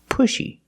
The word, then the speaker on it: pushy: but a little different first let's talk about the pronunciation pushy you have the letter U making the short u sound like pull and good and look listen to the sound